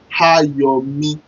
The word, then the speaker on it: Ayomi: So to pronounce my joy in Yoruba, it sounds this way. You pronounce it this way. Ayomi. A-Y-O-M-I.